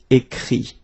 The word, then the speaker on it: écrit: Écrire, to write, will become écrit. Okay? Remember that phonetically this final T doesn't exist. Okay? So the sound will be only this I.